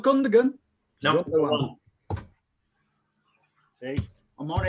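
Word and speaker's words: Gündoğan: Gundogan, yeah. Not Gundogan.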